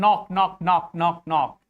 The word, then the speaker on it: knock: And knock, K is before N.